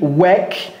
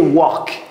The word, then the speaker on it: work: Donc lui n'a pas dit work, mais il a dit work. Cody, do we say walk? No. What do we say? Work.